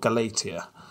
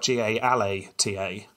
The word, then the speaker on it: Galata: and this was called Galatia. If I'm not pronouncing that right, I know I'm not, but it's spelt G-A-L-A-T-A.